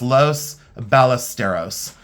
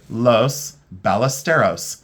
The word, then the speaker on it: Los Ballesteros: And when I pronounce the things for all of you, it's Los Ballesteros. And some people will combine the L's as like a Y, but I say Los Ballesteros.